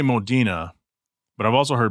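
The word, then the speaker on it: Modena: a gated 360 Modina see we always say Modina but I've also heard Moda and I looked it up and it's pronounced Modina so it was a gated blue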